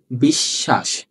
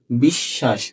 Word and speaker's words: বিশ্বাস: এটা কি মাঝখানে আছে দুইবার উচ্চারণ হবে কি হবে বিশ্বাস কি হবে বিশ্বাস হ্যাঁ তাহলে আমরা লিখবো